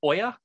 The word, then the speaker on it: olla: conditions in particular so this olla is pronounced oya so oyas are another